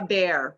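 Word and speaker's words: Baer: drawn from i think robert bayer um bear i don't know if i'm pronouncing it correctly ah bear bobby yeah there you go yeah cause i've read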